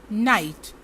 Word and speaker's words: knight: KNIGHT, इसमें जो K है इसका उच्चारण नहीं होगा और हम इसको प्रोनाउंस करेंगे नाइट।